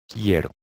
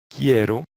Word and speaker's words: quiero: Yo, we already know how to say yo, yo, and then we're going to pronounce quiero. For example, you say the word kilo. Okay? Kilo. Ki. Ki. You see? Ki. Ero.